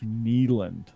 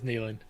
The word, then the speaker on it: Neyland: game on the third Saturday of October when Neyland is absolutely a zoo, because that's Neyland. That's I got brutally corrected on TikTok. It's Neyland. It is Neyland.